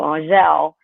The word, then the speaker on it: Angelle: Because it's actually pronounced, it's French. It's French for angel, and it's pronounced Angelle. So, you know, when everybody around here says Angelle, and then they hear Angelle, they thought it was hilarious.